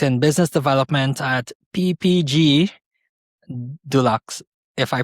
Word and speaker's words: Dulux: and later worked in business development at PPG Dulux if I pronounce it correctly.